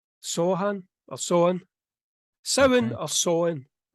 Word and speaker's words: Samhain: Tell me how you pronounce it. Samhain. Samhain. I think in England it's Sohan or Sohan.